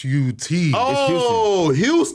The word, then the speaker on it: Huston: Huston or Huston Houston no it's Houston man everybody say my name wrong it's hon I call you Hudson right why cuz I